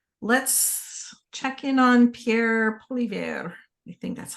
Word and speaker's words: Poilievre: Poilievre. The R is silent.